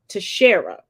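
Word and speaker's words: Teixeira: Jack and I did finally get a proper pronunciation to Shara he was arrested without incident and will be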